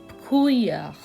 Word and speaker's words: brouillard: We don't pronounce double L here, so it would be il fait de brouillard.